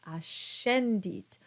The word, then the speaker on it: ascendit: Finally, we have the sh sound when you have the C between an S and an E or an I. And so you get words like ascendit and suscipe.